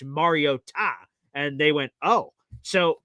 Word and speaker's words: Mariota: Everyone has been saying it wrong my entire 10-year career and saying Mariota. It's not, it's Mariota.